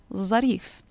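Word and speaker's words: ظريف: also envelope becomes or verif meaning nice becomes zarif in some rare cases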